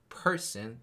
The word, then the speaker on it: person: between two words is one is person, the stress is placed on the word e, and then the percent is stressed on the word, the second syllable of e.